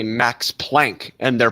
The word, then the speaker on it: Planck: right way is important we shouldn't be saying Max Planck we should be saying Max Planck we shouldn't be saying